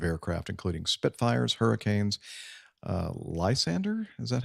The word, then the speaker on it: Lysander: a range of aircraft including Spitfires hurricanes uh Lysander is that how you pronounce that yeah Lysander yeah p-51s and p-47s based there over at